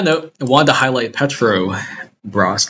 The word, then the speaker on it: Petrobras: I wanted to highlight Petro Bros I always want to say Petro boss Petro Bros as I